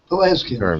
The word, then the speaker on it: Pelasgians: I wanted to the if I'm pronouncing it correctly, the Pelasgians. Pelasgians, yeah.